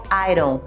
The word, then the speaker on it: iron: paulo ok lembrando até uma diquinha simples aqui de pronúncia porque a gente tem o hábito de ler aí dom né mas quando você vai jantar o ai condão que ele fica iron iron works em são